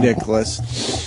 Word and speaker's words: Nicklaus: Nicklaus.